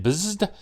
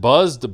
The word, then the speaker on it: Bzzd: On the front, it says Movie Masters Hal Jordan and Bzzd. And I know some people pronounce it Buzzed, but to me there's no U in there, so it's Bzzd.